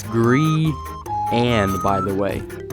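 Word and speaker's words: Grian: graeme i think it's ryan lawless grind it's gree anne it's gree and by the way say brian but with a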